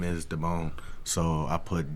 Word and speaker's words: Damon: But your name not hard to pronounce. You would think. Damone. Exactly. Damone, Exactly. Demon.